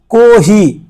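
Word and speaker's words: コーヒー: তারপরে যায় কহি। কহি। এখানে দুইটা টান আছে দেখেন কাতাকানাতে এখানে একটা টান আছে এখানে টান আছে কহি কহি মানে হচ্ছে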